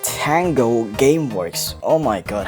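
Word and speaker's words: Tango Gameworks: game from 10U Gameworks Tang you Gameworks it's pronounced Tango your game works oh my God how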